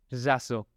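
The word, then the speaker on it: ĵazo: Acá tenemos dos letras que son difíciles de pronunciar en español. La J con el gorrito y la Z, en este caso es yazo. Es yazo. Siempre con esa cadencia, esas cuerdas vocales vibrando.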